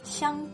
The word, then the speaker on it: 香: Now, xi plus e plus ang makes 香, as in 香水, perfume. 香 means aromatic and 水 means water.